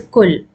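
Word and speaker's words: كُل: So likewise, is kul. Ta'kulu, we remove ta and hamza, so we have kul. So we can pronounce kaf has a dhamma, so we can pronounce kul.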